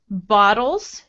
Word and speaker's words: bottles: Say bottles and make your T like a D. Bottles. Bottles. Uh-huh. Good. So this has ba. It's we have a voiced sound before and after bottles, so the T turns into a D.